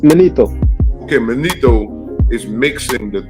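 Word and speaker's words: Manetho: And what happened is Matheno. That's how you say it, Matheno, or how you say it again? It's Manito.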